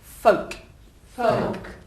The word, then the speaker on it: folk: folk somewhere as well there's no l imagine the L is not there it's got an on the end if you like but it's folk folk very good and the